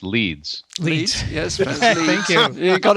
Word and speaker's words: Leeds: leeds also in the uk hello which is pronounced leeds yes thank you you got it right vince